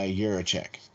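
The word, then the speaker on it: Jiříček: about the cherry coding about uh david uh yurichik yes very good very good pronunciation there you go thank you see practice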